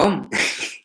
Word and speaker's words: Om: Gambira, ¿por qué se escribe A-U-M y se pronuncia OM? Y me miró muy extrañado. Y me dijo, ¿tú cómo te llamabas? Le dije, Jorge. Dice, claro. Y yo para llamarte, yo no digo, oye, J-O-R-G-E, sino que te llamo Jorge. Dice, pues el OM es igual. No vas a decir A-U-M, sino que dices OM, no las letras.